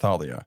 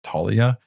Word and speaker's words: Thalia: It's actually really hard for me to like remember how to say her name, Thalia, like that, because I always thought it was just Talia. I don't know, whatever. It's that TH.